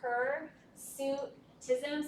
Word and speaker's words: hirsutism: One way to remember how to say this is hirsutism, so like her and a suit.